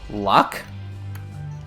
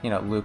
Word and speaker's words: Luc: And some pronunciations are more normalized in English, but yeah, I said Luck when I was 12. When I finally studied French in early high school, I said Luke.